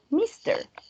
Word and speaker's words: Mr.: Y el último, que es el más fácil para todos, que ese sí sería Mr. Mr. También como si tuviera dos sílabas.